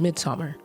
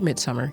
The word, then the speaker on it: Midsommar: film is Ari Esther's Midsummer or Midsummer either pronunciation is correct this movie came out